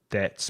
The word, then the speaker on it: debt: need to pay your debts. Be careful of debt because it has a silent B, which you don't pronounce.